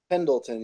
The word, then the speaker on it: Pendleton: Is that how you pronounce it? Pendleton? Pendleton, yeah.